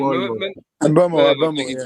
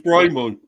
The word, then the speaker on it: Mbeumo: Mbeumo, Bramo. I think his actual pronunciation is Bramo.